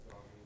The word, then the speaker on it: Gaussian: That's Gaussian blur. And then you use, it's called a blending mode. I think it's those modes that you're talking about of, like Yeah, overlay. where is the Gaussian blur?